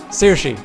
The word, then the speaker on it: Saoirse: Saoirse. Okay, that's why I couldn't. This is like me trying to pronounce Chabon.